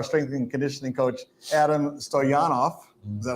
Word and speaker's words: Stoyanov: Anyway, I love the passion and the energy of our strength and conditioning coach, Adam Stoyanov.